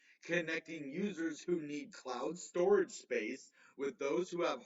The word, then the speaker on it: Storj: Well, Storj pronounced as, storage. Okay, I've always called it Storj.